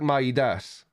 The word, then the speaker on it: Midas: It's pronounced like Midas. So the Midas, the famous Greek mythology king who turns things to gold by touch.